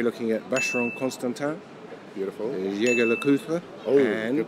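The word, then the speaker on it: Jaeger-LeCoultre: Jaeger Le-Coultre. Oh, and good pronunciation.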